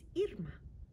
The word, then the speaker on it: Irma: It looks like Irma to some of you, and that is one pronunciation of this name. But the name my parents gave me is Irma.